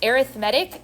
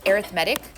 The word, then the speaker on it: arithmetic: in arithmetic and geometric sequences uh this is pronounced arithmetic it's spelled exactly like the word arithmetic but it's pronounced arithmetic just for the future but we're talking today